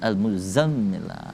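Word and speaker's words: المزمل: Huruf za itu agak ditekan, bunyinya lebih besar za. Kalau huruf za tipis, lidah di ujung gigi za. Kalau ini za. Al-muzammil, za kan, al-muzammil.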